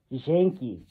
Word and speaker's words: Janky: Some people say Jazanky or Jazanky or Janky. No, that's all wrong. My name is Janky. Can you repeat after me? Janky. That's how you say my name.